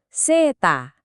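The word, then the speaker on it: セーター: Dibacanya seta. Lagi-lagi ini kata serapan dari bahasa Inggris sweater.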